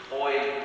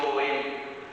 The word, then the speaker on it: Joel: Joel o Joel, como lo pronuncian en inglés, ¿verdad? Joel será una pronunciación más parecida a la del hebreo, es yo de Yahvé, de Jehová, de Yahweh, es Dios.